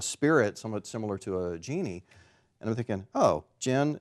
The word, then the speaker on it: djinn: i realized the pronunciation the d is silent so you just pronounce it gen just as though it was spelled g-i-n and thinking oh what